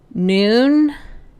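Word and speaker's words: Nuun: So far, noon, I think that's how you pronounce it.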